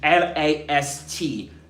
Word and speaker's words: last: So he drops the final t sound. Right? He drops the final t sound at the end of last. Why? because the T there is in between two consonants.